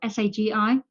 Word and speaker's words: Sagi: I think I pronounced his first name right. Sagi.